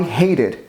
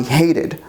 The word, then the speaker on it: hated: hate when that happens the correct pronunciation is with ID so I yesterday I hated my dog I hated my dog cuz she